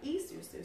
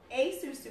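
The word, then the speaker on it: esusu: us in growing was a practice called the e-susu. So a-susu is spelled E-S-U-S-U.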